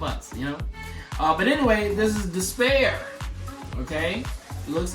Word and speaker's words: D'Spayre: Because, because Despair, it's not just despair the way it's spelled, but it's Despair.